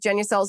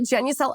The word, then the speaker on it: Genucel: Now, Marina is flying high with Genucel's new Ultra Retinol Serum with hyaluronic acid.